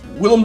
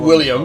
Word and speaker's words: Willem: No, it's Willem, Or not William. Dafoe, It's yeah. Willem. Willem Dafoe as well. I love when people always get that wrong. It's like, it's not William. Look how his name is spelled. It's Willem Dafoe.